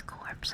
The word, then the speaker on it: corps: Corpse, yeah, corpse. Really? Is it pronounced as corpse? I swear it. I thought otherwise, so well, probably a different one. Bombay sounds like a bay filled with bombs. Colors or corpse wasn't corpse. CORPS.